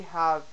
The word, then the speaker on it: have: This rule is supposed to also apply for A's. If we look at save, it follows the rule. We have a long a sound before the v and the e that stretches it out. But if we look at have, we have a short a sound.